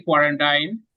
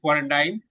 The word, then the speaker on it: quarantine: Hindi, they don't say quarantine. I mean, they say quarantine, but it should be quarantine.